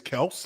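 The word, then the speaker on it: Kelce: travis kells i guess the way to say his his last name is kels not kelsey oh that's what he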